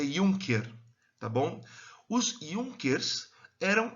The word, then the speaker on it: Junker: Ele era um Junker, ou não é Juncker, apesar de ser com J, se pronuncia Junker, tá bom?